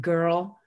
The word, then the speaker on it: girl: to it is that your mouth is saying er. You don't hear a vowel when you say the word. And er is a totally unitized vowel. You know, there's not a vowel plus R. It is just er.